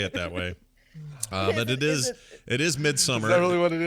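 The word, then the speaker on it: Midsommar: Nicole to say it that way it is midsummer it's pronounced it's pronounced midsummer but it's spelled in the way that you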